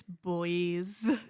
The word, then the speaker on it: buoys: Is it pronounced boys or buoys? It's boys.